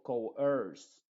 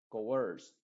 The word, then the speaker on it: coerce: Y luego coerce, co y luego earth, coerce.